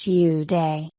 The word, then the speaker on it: Yudi: His name is Yudi, which is pronounced Uday.